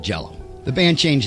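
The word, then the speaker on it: Green Jellÿ: trademark so the band changed the name from Jello to jelly but still pronounced it Jello so also they proclaimed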